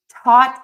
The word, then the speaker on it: taught: Taught and thought. Don't get messed up and confused with that A-U-G-H, O-U-G-H. In this situation, they are both pronounced as the short ah.